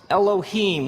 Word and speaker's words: Elohim: it would look something like this and it's pronounced Elohim let me hear you say Elohim in the beginning Elohim created the heavens and the earth now the